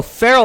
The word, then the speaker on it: Pharaoh: Oh, Pharaoh like that. I was thinking Pharo for whatever. It is written that way, but phonetically it is still Pharaoh.